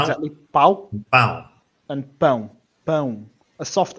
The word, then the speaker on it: pão: all that happens there is one goes louder and one goes quieter. It is a bit like that. Yeah. But you've also got a different type of A here.